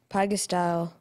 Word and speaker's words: pygostyle: Pygostyle, am I saying it correctly? I believe so, yes. Pygostyle.